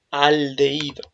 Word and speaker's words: aldehído: Y en este caso, yo lo que tengo aquí, este grupo funcional, es un aldehído. ¿De acuerdo? Aldehído. Lleva acento en la aldehído.